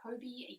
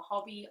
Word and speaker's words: Hobbii: never heard of them i don't know if they pronounce their store as hobie or hobby i pronounce it hobie simply because there's